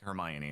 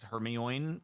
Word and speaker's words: Hermione: I read like heroine.